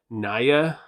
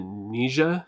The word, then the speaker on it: Nija: some of the songs they actually say the word in one of their songs and they pronounce it nisha so i i'm just